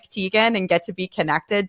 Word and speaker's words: Teagan: But it's T-E-A, like a cup of tea, and then G-A-N, Teagan, like kitten, but with the L.